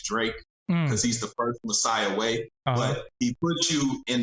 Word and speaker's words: Messiah Way: How you pronounce his name? Messiah Way.